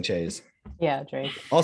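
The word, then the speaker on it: chaise: don't know so oh chase that's what it is chase i think that sounds right chase okay guys i think in french you pronounce the consonants if there's vowels after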